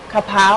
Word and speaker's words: Kha Prao: tasty dish how do you how do you pronounce it this is a papow kapow yeah kapow standing for Basil actually so kapow